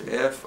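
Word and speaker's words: Finschhafen: Yeah, I think it's Finchaven. It's spelled a number of ways, but basically that's it.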